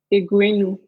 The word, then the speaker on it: Egwuenu: So would you mind pronouncing it the correct way? Yeah, sure. It's Egwuenu.